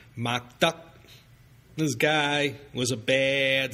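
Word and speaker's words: Mock Duck: didn't even speak Mandarin his surname was pronounced Muk in Cantonese duh which ironically means morality or virtue is pronounced duck maybe you've heard of him before maybe not McDuck this guy was a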